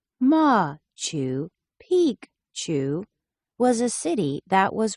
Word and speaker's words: Machu Picchu: was a Royal Estate Machu Picchu pronounced ma Chu Pik Chu was a city that